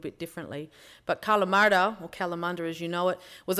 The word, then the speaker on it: Kalamunda: Say it with an Aussie accent. Kalamunda, that's right. So who's been to Kalamunda? There it is. So Kalamardha, which is how it's pronounced originally, obviously turned into Kalamunda.